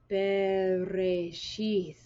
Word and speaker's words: Bereshit: Bereshith bara Elohim es hashamayim ve'es ha'aretz ve'ha'aretz haytha